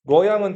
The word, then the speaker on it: 낙양: 뤄양은 중국 사람들이 읽는 거고 낙양. 그죠? 뤄양이라고 해도 맞죠? 낙양.